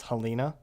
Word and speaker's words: Helena: Also, Helena is actually pronounced Helena.